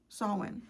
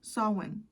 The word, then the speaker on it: Samhain: Samhain. See, I'm saying it right now. I know it takes you guys years to get it into me, but Samhain, the 1st of November, people perceive you as, wow, that's very interesting.